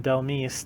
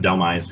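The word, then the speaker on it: Dhelmise: I think it's pronounced Delmise because like demise.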